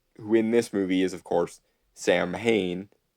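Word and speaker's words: Samhain: movie is of course Sam Hayne or technically his name should be sa andic his Celtic pronunciation but then we wouldn't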